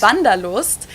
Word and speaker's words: Wanderlust: This is kind of an old-fashioned German word that we pronounce vandaloost and it's literally the desire to wander.